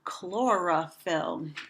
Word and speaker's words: chlorophyll: Try saying that word, chlorophyll. I can clap out the syllables. Chlorophyll. That's 3 syllables.